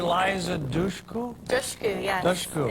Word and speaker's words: Dushku: Dushku, yes. Dushku. It's dush like push or tush or... Push. Like push.